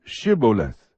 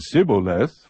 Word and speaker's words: Shibboleth: If he said no, then they would say to him, Say now, Shibboleth. But he said Sibboleth, for he could not pronounce it correctly.